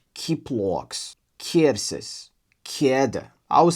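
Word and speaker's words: ķiploks: My Latvian friend told me that it's pronounced kind of like the q in cute. So, maybe it's k k kiploks kievses kieda I would say C tier.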